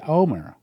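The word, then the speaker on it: Olmert: But I've heard them say it when we're in Israel, and they pronounce it Omer.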